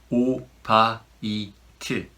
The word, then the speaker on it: 오바이트: The pronunciation is also different. 오바이트.